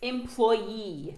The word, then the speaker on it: employee: Ensuite, un employé du service commercial, un employé tout court, c'est… Customer service employee. Alors faites bien attention. Accent tonique pour remercier la première syllabe et l'employé sur la seconde syllabe.